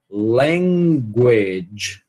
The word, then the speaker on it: language: Essa palavra a gente tem que saber pronunciar direito, né? Então, ó, language, language, a tem que ir lá atrás, é como se fosse um G, né? E segurar esse G por um bom pedaço. Aí vai ser esse somzinho aqui, ó.